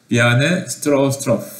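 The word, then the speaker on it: Bjarne Stroustrup: 그래서 이제 요분이 지금 비아네 스트로스트로프, 좀 이름이 좀 발음하기가 어렵습니다. 비아네라고 발음하더라고요. 비아네 스트로스트로프 라고 하시는 분이시고, 요분이 이제 C++ AT&T Bell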